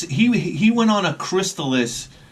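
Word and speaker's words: Crystalis: guys we got and this is how you pronounce it it's crystallis it's not Chris Tallis so everybody out there knock it off it's crystallis this is another game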